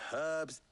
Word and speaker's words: herbs: Food, weapons, herbs, everything. If our humble Herbs. town is to I love how they endure say not only they pronounce this the H in hardship, herbs.